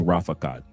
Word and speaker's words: Rafaqat: And it's spelled just like it said, and it's pronounced Rafaqat.